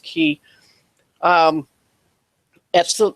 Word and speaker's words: chi: called what's called a key ASM and it's made up it's a patterned after the Greek letter key or Chi is pron Chi is how it's typically spelled pronounced key um that's the letter